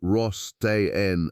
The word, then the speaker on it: Rostain: And in January of the year 2024, a team of archaeologists led by Stafen Rostain, pronounced Ross Tenne, of France's National Center